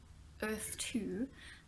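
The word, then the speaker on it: Erthe: bit more deeper into earth - I'm gonna call it because it's called Earth it's spelt er th e like it would be in the old days these new continents new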